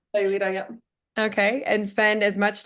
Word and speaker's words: Sayulita: They own a home in, how do you say it, Sayulita, Mexico? Yeah, Sayulita, yeah.